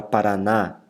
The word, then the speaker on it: Paraná: de tóxicos por exemplo a palavra paraná paraná repara que a última sílaba inclusive se do assento